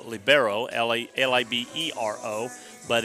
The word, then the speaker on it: libero: A lot of people will call it libero, Libero, but it's pronounced libero, and that is a back row specialist.